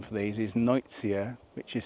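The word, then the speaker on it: Nuytsia: The botanical name for these is Noitsia, which is spelled N-U-Y-T-S-I-A.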